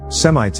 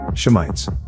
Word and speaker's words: Shemites: And what is interesting is, why are all the Hebrew-speaking Israelites using an Arabic pronunciation? Semites instead of the Aramaic, Hebrew, Shemites. They replaced the Hebrew letter Shin for the Arabic letter Sin.